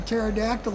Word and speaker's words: pterodactyl: can't you hear a pterodactyl in the bathroom I don't know the p is silent get it the be